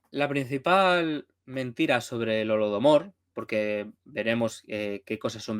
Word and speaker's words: Holodomor: sería como el holocausto de hambre, que se pronunciaría pues Holodomor, y que sería la referencia a esa hambruna de los años 30.